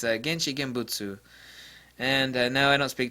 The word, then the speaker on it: 現地現物: So, someone's going to correct me on my pronunciation of this, but it's Genchi Genbutsu.